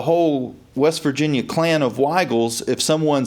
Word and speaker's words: Wigal: It's pronounced the same, Wigal, as a lot of friends of mine that lived in West Virginia that spelled it with a Y, W-Y-G-A-L.